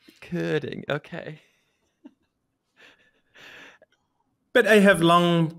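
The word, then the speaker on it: Körding: That's why I no longer even tell most people that I technically have two dots on my O, and therefore it is Kording instead of Kording.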